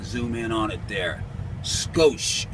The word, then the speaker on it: Scosche: in on it there skosh SC o SCH ii skosh ugly that's the way you pronounce that then anyway this is